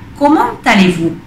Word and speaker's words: comment allez-vous: Habéis visto que la T se pronuncia porque está seguido de una vocal. ¿Comment allez-vous?